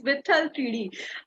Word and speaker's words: Vitthal Teedi: So, I have Pratik Gandhi with me with his new web series, Vithal 3D. Pratik, am I pronouncing it right?